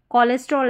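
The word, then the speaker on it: cholesterol: अब यहां पर देखिए मेडिसिन से जुड़े हुए जैसे यहां पर कोलेस्ट्रॉल है। इसको हम सीएच कोलेस्ट्रॉल नहीं पढ़ते।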